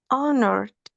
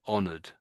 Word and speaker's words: honored: Honored. Yes, that'sor. So, the H this time is silent. That's it. So, honored. Honored.